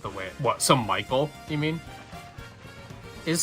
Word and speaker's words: Michael: Yeah, it's not Mikhail. I guess some people might actually pronounce it that way, but they'd probably spell it differently then too.